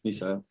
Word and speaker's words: Michelle: Misel. Misel. So the A and the E are pronounced.